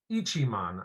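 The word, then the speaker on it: Ichimon: Ichiman, I believe is the way to pronounce it.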